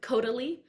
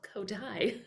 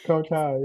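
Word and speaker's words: Kodály: Yeah, Uh, everyone says Kodali when they first, including me. I said, "What's Kodali?" And then someone told me it's called Kodai. it's It's Kotai, yeah.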